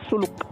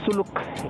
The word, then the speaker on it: Zuluk: going to zuluk and some people pronounce it as zuluk and uh suluk in Tamil Tamil means